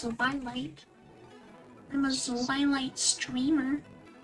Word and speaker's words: Zwilight: I mean, my name's not just, it's Zwilight. I'm a Zwilight streamer. People call me Twilight because they don't know how to pronounce Zwilight. I'm like, it's just a Z. It's not that hard to pronounce.